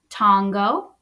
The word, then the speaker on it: Tongo: Let's pronounce it. Please repeat after me. Tongo.